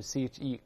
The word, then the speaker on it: cheque: 音都一样 check，英国是 cheque，发音一样。